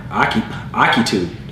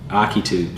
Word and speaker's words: Ahitub: Yeah, Akitub. That's what it says. That's the pronunciation. Akitub. Okay, Akitub. So we're gonna go with Akitub. That's what the pronunciation key says.